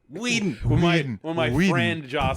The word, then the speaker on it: Whedon: When Joss Whedon showed up and they hired him, Joss Whedon took one look at the script.